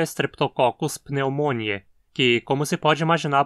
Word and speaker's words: pneumonia: Apesar de em português dizermos pneumonia, com acento na penúltima sílaba, em latim a doença se chama pneumonia, com acento na antepenúltima, pois esse i na penúltima sílaba é curto.